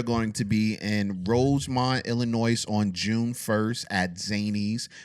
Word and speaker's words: Illinois: Illinois with a s like Illinois? Illinois. Nobody says You said Illinois. You didn't know it it was silent? Did you not know that? Oh my gosh. silent? It is silent.